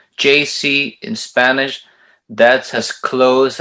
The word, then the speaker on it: Yeisi: i said is it what is it brother it's jc just like if you're pronouncing the letters j and the letter c because it comes from my name okay okay